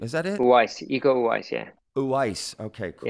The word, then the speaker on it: Uwais: Uwais.